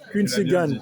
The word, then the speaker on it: Quincy Gan: Eh bien, merci beaucoup On dit Quincy ou On dit Quincy. Quincy, Quincy Gan. Tu l'as bien prononcé.